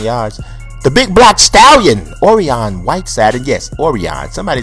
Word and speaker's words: Orion: You know, that's like somebody got a son and you don't tell them how to pronounce their name. I named him, dog. His name is Orion, okay?